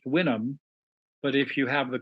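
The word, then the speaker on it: Houyhnhnm: spelled houu h u h ym it's it's pronounced winam but if you have the courage you're supposed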